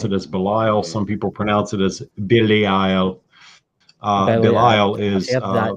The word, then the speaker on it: Belial: Some people pronounce it as Belial. Belial is that name.